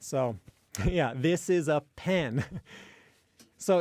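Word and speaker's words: ペン: So in Japanese, pen, you don't exhale nearly as much in Japanese in the P at the beginning of pen compared to in English.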